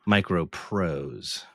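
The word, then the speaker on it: MicroProse: And by the way, it's Micro Pros. Pros. I'm sorry I mispronounced that.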